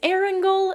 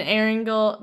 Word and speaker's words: Erangel: Right now, the images that they've shared are clearly from the test servers because it highlights, I think it's Erangel is how you pronounce it, and then Miramar, and then the new map, which is the The murder one.